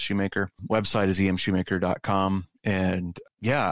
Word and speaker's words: Schumacher: So spelled Schumacher, pronounced Schumacher.